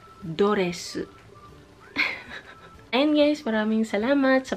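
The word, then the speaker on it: ドレス: Pero, ang pag-pronounce ay doresu.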